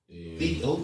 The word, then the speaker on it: Theodore: Get it right. You gotta pronounce all them letters. Theodore.